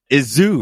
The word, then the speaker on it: Izu: Izu, right? Did I say it right? Yeah, Izu.